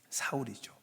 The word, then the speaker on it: 사울: 사울이죠. 바울이죠. 사울은 히브리식 발음이고 바울은 로마식 발음이에요.이 사울이 바울로 바뀐게 아니고 발음이 다른 거예요.